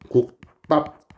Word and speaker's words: 국밥: 국밥. 이렇게 발음이 났죠? 자, 그러면 여기에서 비읍이 쌍비읍인 된소리로 바뀌었다. 이게 경음이다. 역시나 교체다. 얘는 된소리 되기 경음화이다.